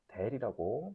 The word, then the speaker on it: 델: 역삼각형으로 돼 있는 걸 우리는 델이라고 발음을 합니다.